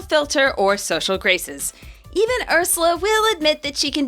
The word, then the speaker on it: Ursula: Not Ursuluna. Ursula. Same pun, one less syllable.